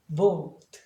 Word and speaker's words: bold: 되고 단모음처럼 해도 되고 그런데 LD나 LT가 나오면 복모음으로 해줘야 돼요. 그러니까 cold, bold, O로 발음해라는 얘기죠.